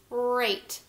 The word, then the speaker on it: rate: We have a, t, rate. Did we hear the E? Nope, we didn't. But the E magically came back over and turned that A into a long A sound.